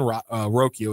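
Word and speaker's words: Rocchio: how we're related, but his name is Brian Roio is how he he pronounces it. He's a short stop. Charlie I didn't know. Charlie Charlie celebrates that Brian Rokio gets a huge hit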